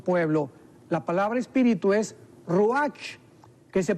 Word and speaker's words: ruach: recogido a su pueblo la palabra espíritu es ruach que se pronuncia raj también entonces etimológicamente que es el estudio de